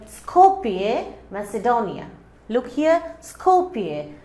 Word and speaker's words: Skopje: Look here, Skopje. This J will not be pronounced. It will be silent. Skopje, Macedonia.